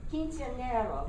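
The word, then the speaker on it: Quinceañera: How do you pronounce it? Quinceanera? Quinceanera.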